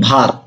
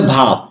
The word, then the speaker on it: verb: এটাকে অনেকেই হয়তো প্রনাউন্সিয়েট এভাবে করেন যে পজিটিভ ভার্ব। ভার্ব এই কথাটা কখনো বলবেন না বা এরকম উচ্চারণ হবে না, এর উচ্চারণ হবে ভাব।